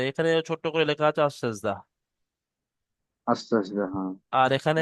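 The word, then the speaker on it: السجدة: আলিফ লাম আস, scene gym দাল, আস গোলতা হা উচ্চারণ হবে আস সেজদা। আসলে জি আলিফ জি, লামটা হলো হরফে আসাজদা, হ্যাঁ। হরফে শামসিন সিন, তো আলিফ লাম দুটোই বাদ যাবে, আস সেজদা।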